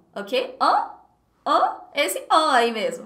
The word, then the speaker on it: hein: Hein?